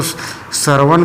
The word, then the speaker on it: Sarwan: तो ये सरमा, इंग्लिश में सरमा का स्पेलिंग SARWAN है। आप लोग ये इसको सरवन पढ़िए, या हिंदी में ये सरमा लिखा जाता है, ठीक है, क्लियर।